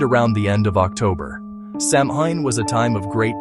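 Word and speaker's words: Samhain: This festival was called Sam Hine, pronounced SH Win. It happened around the end of October. Sam Hine was a time of great change.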